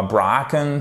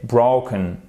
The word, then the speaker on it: broken: Et c'est pas broken, c'est pas bracken, c'est broken. Broken, OK? Avec un accent tonique ici.